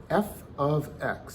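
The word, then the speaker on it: f(x): those are the same thing f of x that's how it's pronounced f which is the function's name of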